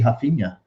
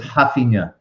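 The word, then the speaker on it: Raphinha: it has to be hafina i would say rafinha you say am i saying it wrong well it's it's i don't know it's it's weird in brazil they pronounce the r like an h yeah in brazil so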